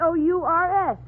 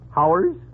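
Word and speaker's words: hours: do you pronounce h o u r s h o u RS oh uh Howers uh you pronounce it ours for of course here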